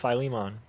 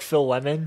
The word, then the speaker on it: Philemon: used to say like Phil lemon fian Philemon I just I used to pronounce it how it looks but I mean that's